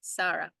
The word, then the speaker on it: Sarah: And anyways, in that oration, the person who was from the Comcast Nation, Zara? Yeah. Is it Sarah or Zara, like a Z? In Spanish, it's spelled the same S, Sarah.